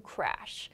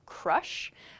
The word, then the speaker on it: crash: is to crash to crash one point here when you're using this word in speech make sure this a sound is clearly pronounced as an a sound to crash if you